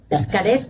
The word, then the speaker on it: Xcaret: Y sí, no, lo pronuncié mal, perdón. A No, ver, no. decilo vos. Xcaret.